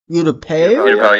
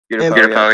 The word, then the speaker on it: Utapau: Utapau, yeah. Utapau, yeah. That's how it's pronounced.